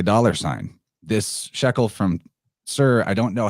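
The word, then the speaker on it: Tyre: I know that it looks like it says tire but you actually pronounce that sir and knowing that is very helpful because you'll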